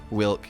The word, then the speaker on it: Wilk: And two, no, because it stands for Wyvern's milk. Yeah. Wilk, yeah.